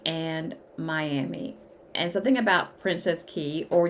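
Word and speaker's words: Princess Cays: And something about Princess Key, or you can pronounce it Princess K. It depends on, kind of where you're from, how you'll pronounce it, if you're native or not. But from everything that I'm seeing on the internet, Princess Key is how you pronounce that.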